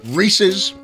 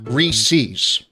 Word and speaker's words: Reese's: Okay, Reese's Peanut Butter Cups. And no, it is not Reese's. Okay? If you say it like that, I pray every night for you to burn in hell. A Reese's Peanut Butter Cup is